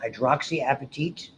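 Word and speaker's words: hydroxyapatite: So it's got a wonderful name you should be familiar with called hydroxyappetite is how it's pronounced tiny calcium phosphate hardness and resistance that's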